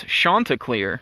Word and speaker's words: Chanticleer: So it is the head of the league, umpires Denny Rotz, tuning in here, and he says the correct pronunciation is Chanticleer of the Coastal Carolina mascot.